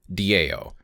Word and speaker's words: Tao: English as Tao or Dao you can pretty much spell it however you want but the sound itself is usually da so it's not quite a d and it's not quite a t it's not ta it's